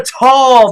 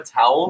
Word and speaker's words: Tau: Is it It's Phi Kappa Tall, buddy. It's Phi Kappa Tall. I've heard Phi Kappa Towel.